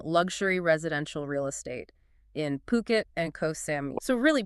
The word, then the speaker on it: Phuket: Yeah, they're a luxury real estate agency, and they're based in, well, they pronounce it Phuket. Phuket, Phuket. not Phuket. Right, which a lot of people get wrong.